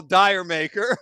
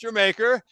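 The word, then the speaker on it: D'yer Mak'er: Zeppelin guys here but the song is gerer which some people might call dire maker but it's actually pronounced jamaer and um it was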